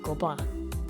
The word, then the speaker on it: Gobelins: Before I get into everything about it that is flipping amazing, I have a little preface about Gobelins. Gobelins? Agh, thank you French,for all those silent letters.